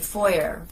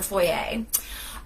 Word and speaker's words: foyer: provincial so it's a foyer not a foyer it's a that's how it's pronounced french but anyhow um so